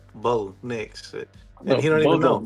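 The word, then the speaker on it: Bo Nix: So, I mean, their their quarterback's first and last name is two syllables. So, what what do you want? It's one syllable. Bo, Nicks.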